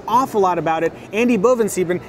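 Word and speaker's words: Bovensiepen: who knows an awful lot about it Andy Boven stepen how close was I on pronouncing your name right oh that was perfect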